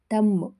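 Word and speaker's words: thumb: ಇಲ್ಲೂ B silent ಆಗಿದೆ ತಮ್ ಹೆಬ್ಬೆರಳು ಟಿಹಚ್ ಯುಎಂಬಿ ಇಲ್ಲೂ ಬಿ ಸೈಲೆಂಟ್ ಆಗಿದೆ ಸಿ ಸೈಲೆಂಟ್ ಆಗಿರುವಂತ ಪದಗಳು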